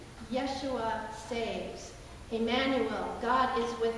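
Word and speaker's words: ישוע: And the way it's pronounced in the Hebrew dialect of the day was Yeshua. Yeshua saves.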